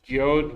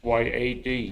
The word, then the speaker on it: yod: and actually one more y y yes it's pronounced yod y o d though some pronounce it y a d y what yes but we get to that